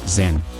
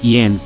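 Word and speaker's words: 甄: Em Pequim dialeto, seu sobrenome é pronunciado Zen, e Yan é a pronúncia cantonesa.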